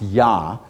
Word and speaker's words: Yah: hey which is pronounced yah which is a complete name of God when you sing or say hallelujah hallelu means praise and you're praising yah right that's what it